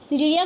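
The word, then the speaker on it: Cnidaria: निडेरिया, ध्यान से देखो, NIDARIA निडेरिया, सी साइलेंट है। जैसे कि ऑनेस्ट में एच होता है ना साइलेंट, वैसे यहाँ पे निडेरिया में हमारा सी साइलेंट है।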